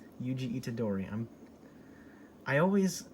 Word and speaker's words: Yuji: him that's one of the main gimmicks of yuchi itatori itadori which is the main guy's name yuji itadori i'm i always pronounce them so right in my head why